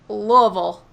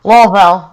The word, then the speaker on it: Louisville: The one thing I know is that it's Louisville, not Louisville. I'm still learning to say Louisville. Not Louisville. You don't pronounce the S at all.